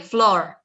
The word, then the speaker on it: floor: Try to make the O a little bit longer.